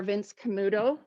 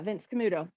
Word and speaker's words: Vince Camuto: real suede they're much more expensive these are vince camuto is that how you say it say it rebecca yeah vince camuto um but i love vince camuto shoes if